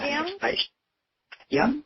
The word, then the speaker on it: Mediem: Medium? Yeah. Did you say medium, like small, medium, large, like that? Yeah. Yeah. Okay. Yep. Gotcha. Yeah, it's spelled a little differently, MEDIEM.